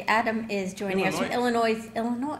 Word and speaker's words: Illinois: is joining us for Illinois Illinois I think the S is silent isn't it Lawrence there's no s